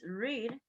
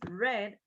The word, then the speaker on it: read: In the case of read, remember that we change the pronunciation. In the present is read, in the past is read, in the past participle is read.